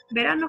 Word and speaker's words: verano: Verano es una palabra llana, porque la sílaba tónica es la penúltima.